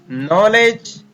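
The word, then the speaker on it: knowledge: और हमने इस वीडियो में देखा कि कुछ शब्दों में डी के तुरंत बाद अगर जी आता है तो हम डी का उच्चारण नहीं करते हैं।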